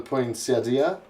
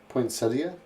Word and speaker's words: poinsettia: The Aztecs brought forth the poinsettia. Poinsettia? Poinsettia?